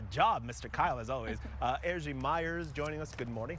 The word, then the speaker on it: Erzsi: Ergie Myers joining us. Good morning. How are you? Good morning. Did I say your name right? Yes. Ergie? Yes. I said earlier, how many people get your name wrong?